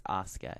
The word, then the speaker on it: Asuka: Yes, it's Asuka.